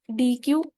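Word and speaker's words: deque: डी क क्या है स्पेलिंग में डिफरेंस है दोनों के लेकिन पढ़ा इनको डी क ही जाता है अब ये हमारे पास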